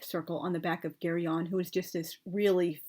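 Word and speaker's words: Geryon: case it's hard but because the name comes from Greek mythology originally I think it would be a hard G so carry on but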